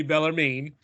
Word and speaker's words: Bellarmine: the other game featured Bellarmine I want to say Bellarmine but I put pronounce it to Google and it told me bella mean down in Louisville Kentucky